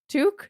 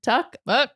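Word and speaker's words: Tuch: that second power play tou tuque tuck how do I pronounce his name I don't know who that is I can't remember hold on touch it's touch apparently interesting Alex touch was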